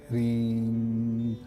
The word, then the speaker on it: Hrim: आराम से ध्यान अवस्था में बैठ जाइए और ध्यान अवस्था में बैठने के बाद HRIM इसका प्रोनाउंसिएशन है, लेकिन मो पूरा नहीं बोलना है, आधा मो बोलना है, रीम।